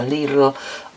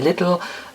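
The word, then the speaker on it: Lidl: It's Leelle or the British say little and Aldi and they both are very very hard competition.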